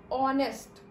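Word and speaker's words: honest: a university, लेकिन ऑनेस्ट, ऑनेस्ट की spelling है एच ओ एन ई एस टी, लेकिन क्योंकि यहां पे एच साइलेंट वर्ड है, हम इसका प्रोनाउंसिएशन करते हैं ऑनेस्ट, जहां पे एच साइलेंट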